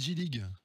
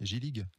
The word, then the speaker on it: Gillig: On a invité pour cela Gillig. J'ai bien prononcé ce nom magnifique, Gillig. Très bien prononcé, Eric. Mais pas à l'alsacienne. Pas à l'alsacienne.